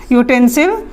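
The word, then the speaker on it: utensil: मतलब होता है बर्तन यूटेंसिल की अगर बात की जाए तो इसका उच्चारण मशहूर है यह से यूटेंसिल तो हम यहां पर भी क्या लगाएंगे यह लगाएंगे यह यू से शुरू होने के बाद बावजूद और यह ट्यूब वेल्स का पाठ होने के बावजूद भी हम यहां पर और लगाएंगे क्योंकि इसका उच्चारण जो हम कर रहे हैं वह हमारा व्यंजन वर्ण का हिस्सा है कौन सी के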